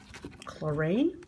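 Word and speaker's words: Klorane: This is the Chlorine.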